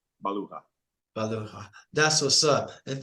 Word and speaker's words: Baluja: the internet came on, Baluja, and that's correct. It is correct, but mine is Spanish, Baluja.